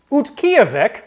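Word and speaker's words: Utqiaġvik: question one oh i oh i practiced the pronunciation of this too utkyovic i got it alaska was known as what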